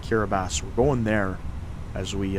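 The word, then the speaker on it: Kiribati: K I R I B- A TI, but it's pronounced Kiraabas.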